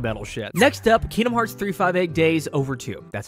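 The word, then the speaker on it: 358/2 Days: to like black metal next up Kingdom Hearts 358 days over two that's how you say it there's technically two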